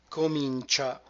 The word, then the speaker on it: comincia: Comincia, again another cluster, CEA, like ciao. CEA will always be pronounced cha.